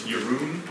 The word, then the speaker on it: Jeroen: So yeah, my name is Jeroen, that's how you pronounce it in the Netherlands, or Jeroen, how I now pronounce it in Australia.